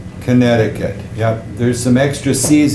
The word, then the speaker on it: Connecticut: doesn't sound like what it looks like it's pronounced Connecticut Connecticut yep there's some extra seas in there we